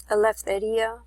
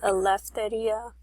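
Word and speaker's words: ἐλευθερία: The Greek word over here, it's actually pronounced aletheia, is how you would say that in Greek. It actually makes an F sound when you put an E and a U together in the Greek.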